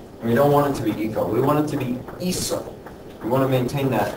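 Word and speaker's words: hizo: What happens is that this is actually pronounced eco. Rather, eco. And we don't want it to be eco. We want it to be iso.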